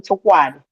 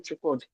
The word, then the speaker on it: Chukwudi: In the school, they call him Chukwadi. They wrote it there. I have tried several times to change that, to tell them to pronounce it. So they prefer to call the second name. I said, no, you have to call him Chukwudi. That's his name.